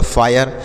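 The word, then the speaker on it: fire: कैसे, देखिए जैसे मान लीजिए यहाँ पर लिखना है यफ से लिखेंगे फ, आई का उच्चारण क्या होगा, आय होगा, आर ई से र हो गया तो यह हो गया फायर, एफ आई आर ई फायर, एच आई आर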